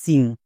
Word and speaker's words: sing: সিং।